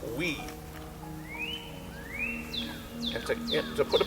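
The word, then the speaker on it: wí: a very easy word it's w I it's pronounced we and to to put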